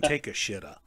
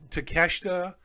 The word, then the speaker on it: Takeshita: Made fun of Takeshita's pronunciation. He called him Takeshita. And it's what I did a couple of times. In my head, it's hard not to, because in English, it's Takeshita. But Takeshita, first of all, his Japanese